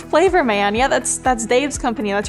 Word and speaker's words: Flavorman: it was a last name, so I was pronouncing it Flaverman, and and she was like, no, it's Flavorman.